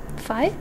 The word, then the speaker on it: Phi: Yeah, the phi symbol. Yeah, BJ White. Phi. Oh, there. Phi, P. Sounds like phi. Oh, well. Okay. It rhymes with pie.